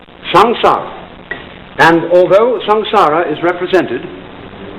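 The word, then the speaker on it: saṃsāra: Sanskrit s a m s a r a shanara it's pronounced shanara and although ssara is represented in uh popular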